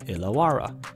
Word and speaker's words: Illawarra: haven't figured it out it has a capital e in the front and is pronounced Illawarra it's not la la